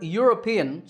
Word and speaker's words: European: number eight is similar the word european starts with a yeah sound so a european tour